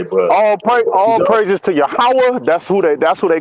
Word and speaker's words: Yahweh: Which is what but we it's pronounce as Yahweh.